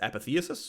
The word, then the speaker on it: Apotheosis: And a bonus AD ratio nerf on the DPS part of Apotheosis. Also, you can pronounce it as Apotheosis if you want. Your choice.